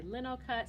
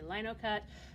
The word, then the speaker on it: linocut: Some people will say LINOCUT, some people will say LINOCUT. For the sake of Americanism, we're just going to use LINOCUT throughout this demonstration.